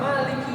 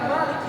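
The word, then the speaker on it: مالكِ: Banyak dari orang, banyak dari manusia yang membaca kalimat Maliki Yaumiddin seolah-olah kafnya itu sukun. Jadi Malik Yaumiddin.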